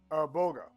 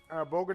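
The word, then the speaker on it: bulgur: Okay, I know it's pronounced it's pronounced boga, but it's actually spelled Bulger, right? But when you're looking into Middle Eastern dialects, you can throw the English format just right out the window.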